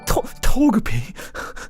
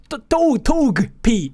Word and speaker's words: Togepi: It's not Togepi.